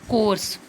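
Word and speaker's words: course: तो आगे देखिए कोर्स, राइट कर रहे हो एस ई, लेकिन ई क्या है? साइलेंट है। ओनली वर्ड क्या बोला जाएगा यहाँ पे भी? कोर्स।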